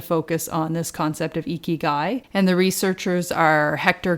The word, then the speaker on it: Ikigai: You're going to pronounce it better than me, Jeff, because you spent time living in Asia. Ikigai?